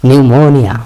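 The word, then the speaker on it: pneumonia: নিউমোনিয়া, নিউমোনিয়াতে খেয়াল করছেন বিয়ের উচ্চারণ হয় না, কিন্তু আগে একটা পি আছে, শুরু হয় পি দিয়ে।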